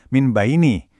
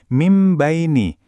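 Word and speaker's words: مِنْ بَيْنِ: Frasa ini aslinya min baini, tapi karena nun sukun ketemu sama huruf ba, kita membacanya jadi mim baini. Bunyi n-nya berubah jadi m.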